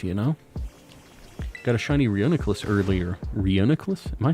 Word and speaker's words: Reuniclus: know got a shiny Reuniclus earlier Reuniclus am I saying that right Reuniclus Reuniclus like reunite nice I'm sorry I'm